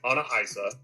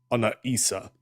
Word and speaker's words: Ana Issa: I intentionally mispronounced it. The the better pronunciation would be uh Ana Issa campaign.